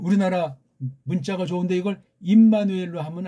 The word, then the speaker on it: 임마누엘: 신약으로 번역하면 이게 엠마누엘이지만 구약 발음으로 치면 임마누엘로 하는 게 정확한 번역이 될 겁니다. 엠마누엘로 할 수도 있지만 구약에 이미 있는 것이고 소리 나는 대로 직역을 한 거니까.